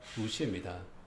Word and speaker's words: 룻: 롯과 룻입니다. 오와 우의 차이, 우리말 발음으로 하면은요, 오와 우의 차이입니다.